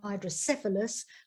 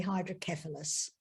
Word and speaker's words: hydrocephalus: a shunt was exerted i know the americans say hydrocephalus but the brits say hydrocephalus anyway that's what happened